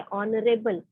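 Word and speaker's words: honourable: ऑनरेबल मैन, ठीक है, ऑनरेबल, ऑनरेबल का स्पेलिंग क्या होता है? एच से स्टार्ट होता है, बट साउंड किसका लगता है? ओ का लगता है।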